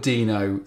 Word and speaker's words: Deno: So I'm going to try and call it Deno throughout, but I'll probably slip into Deno every so often, so apologies now.